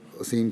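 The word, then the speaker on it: الأثيم: شَجَرَتَ الزَّقُومِ طَعَامُ الْأَثِيمِ، تو اس سے اسیم ادا نہ ہوتا تھا۔ تلفظ تھا ایرانی کا، وہ صحیح طرح ادا نہیں کر سکتا تھا اسیم کے لفظ کو۔ وہ ہر دفعہ اسیم جب یہ کہتے تھے وہ یتیم کہہ دیتا تھا۔ حضرت ابی نہایت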